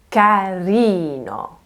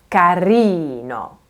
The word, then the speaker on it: carino: So, in Italian, the vast majority of words are stressed on the second to last syllable, okay? This is also part of the rhythm and musicality of Italian. For example, carino, carino, kind. Can you hear how I'm leaning on that second to last E sound?